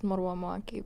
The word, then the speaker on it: Marwa Muwaki: Yeah, my name's actually pronounced Marwa Muwaki, but I also just go by Marwa Muwaki.